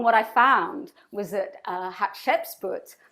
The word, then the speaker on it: Hatshepsut: And so I googled and researched, and what I found was that Hatshepsut, if I've pronounced her name right, it's like hot chicken soup, Hatshepsut, was actually, a pharaoh and a queen without a consort.